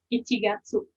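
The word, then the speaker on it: 一月: cuma dalam bahasa Jepang dibacanya bukan Januari nah satu ada G punya nih ichigatsu dibacanya Gatsu Oke ichigatsu nigatsu sangat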